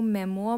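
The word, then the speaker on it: memoir: is related to मेमो मेमो इसमें are silent रहता है इसको मेमो बोलते हैं मेमो बेसिकली क्या होता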